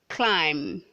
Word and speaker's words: climb: comparison red 107 says climb climb climb not climb the b is silent world 108 says who